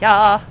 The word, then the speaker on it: Jarl: The Jarl that starts with a J, but everyone pronounces it Ya.